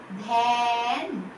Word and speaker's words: ধ্যান: ধয়ের সাথে আবার এ যুক্ত হবে। ধ্যান, দন্তেন, ধ্যান।